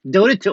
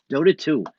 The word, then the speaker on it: Dota 2: Dota 2. Okay, I see it now. Dota 2.